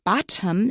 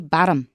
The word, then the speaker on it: bottom: So we don't say bottom in American. Usually it's not wrong, but it sounds it stands out anyway. We say bottom, 的。